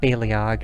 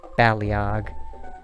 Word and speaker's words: Baleog: I'm thinking about it I'll continue to pronounce it Bailey OGG since that's all I've always pronounced it but it probably is actually supposed to be pronounced baleog I think there may have